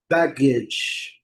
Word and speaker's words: baggage: Letra E não é pronunciada e nós vamos voltar aqui.